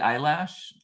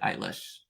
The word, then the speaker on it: Eilish: style of Billy Billy eyelash eyelash sorry not I say Billy eyelash to infuriate my son Mason but it's really Billy eilish he gets so mad